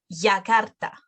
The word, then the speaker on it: Yakarta: No, letra Y is going to be pronounced as J in English. Now, for example, Yakarta, Yemen, Yucatan, Y. Make a J sound, Y.